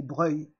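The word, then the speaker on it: Broglie: Et oui, c'est Breuil. Les familles françaises d'origine italienne font des prononciations étranges.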